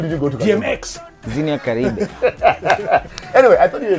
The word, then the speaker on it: Xenia: Xenia. Xenia. With the Z. Not Xenia. With an X. With an X. Xenia. The X is silent.